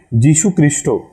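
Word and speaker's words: যীশু খ্রিস্ট: medium था तो वह बंगाली में जीसस क्राइस्ट को जो एक्शन प्रोनाउंस करते हैं वो लोग वो होता है की जीसू क्रिस्टो तो बचपन से मेरे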